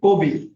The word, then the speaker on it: কবি: কিন্তু যখন আমি বলি এই শব্দটা, তখন আমি বলি কি কবি, অর্থাৎ কটা অটোমেটিক্যালি একটু গোল হয়ে যাচ্ছে, পয়ের সাথে রস্বইকার হচ্ছে। তাহলে এখানে অধ্বনিটা ও এর মতো হচ্ছে।